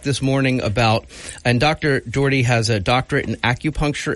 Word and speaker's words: Doherty: I was going to say. Yeah, that's what I said in the parking lot. Say it again. Rhymes with 40. Doherty.